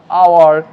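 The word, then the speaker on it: hour: ঠিক একইভাবে এর আগেও আমি বলেছি যে হনার হবে না, এখানে এইচ সাইলেন্ট রয়েছে তাই অনার, এইচ সাইলেন্ট রয়েছে তাই আওয়ার, এখানে এইচ সাইলেন্ট রয়েছে তাই এটা হবে টমাস, নট থমাস।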